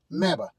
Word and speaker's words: MABA: MABA. M A B Ah, rhymes with MAGA, only a lot better.